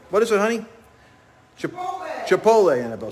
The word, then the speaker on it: Chipotle: I can never pronounce it right. What is it, honey? Chipotle, Annabelle says.